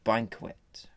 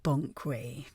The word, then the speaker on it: Banquet: This week I have the pleasure of having the Culture and Arts Minister, Lady Gertrude Banquet. It's pronounced Bonkway.